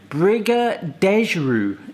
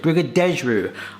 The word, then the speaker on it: Brigadeiro: So when I pronounce Brigadeiros, that's how I wanna pronounce it. And, but Wikipedia does say Briga-dej-ru; is a traditional Brazilian dessert. But that's how you pronounce it, Briga-dej-ru.